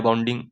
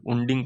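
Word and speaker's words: wound: Winding या वाउंडिंग बोलते हैं इसको। है ना? वुंडिंग पढ़ते हैं बहुत लोग। वाउंड है ना वाउंड।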